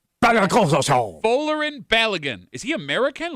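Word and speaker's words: Folarin Balogun: Uh, the US player who scored two goals against Paraguay, his name is pronounced Folerin Oun. Folerin Balagan. Folerin Balagan.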